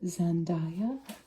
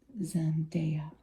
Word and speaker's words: Zendaya: I think I often call her Zendaya, but I think the technical pronunciation is Zendaya.